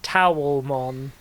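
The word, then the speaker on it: Taomon: It's I've got to say, Pex, did you just write towelmon? Like a thing that you dry yourself with? Towel. T A O like towel.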